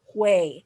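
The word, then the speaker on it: güey: south american countries so the first one is way so it's spelled g-u-e-y and it's kind of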